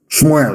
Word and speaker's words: Shmuel: Let me tell you what Samuel said. Shmuel, of course, correct pronunciation.